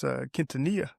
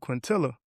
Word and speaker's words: Quintanilla: And his name is Quintanilla. Oh yeah. But I was pronouncing it Quintilla. I was calling him Quintilla. It's like quesadillas.